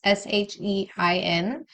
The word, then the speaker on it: Shein: So I have a huge Shein. How do you say that? It's Shein.